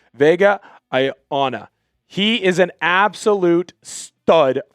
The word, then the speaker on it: Vega Ioane: time because it can be very difficult to pronounce. Vega Ioane.